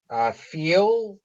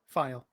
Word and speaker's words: File: Feel, did you have a chance to speak? File. File, I apologize.